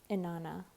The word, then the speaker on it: Inanna: Nana believe in yourself inanna yeah I said it right but yeah it's inanna